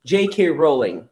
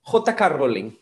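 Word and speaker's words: J. K. Rowling: considerable del nombre porque en inglés decimos yeiker rowling pero en español vamos a decir jk rowling jk rowling es la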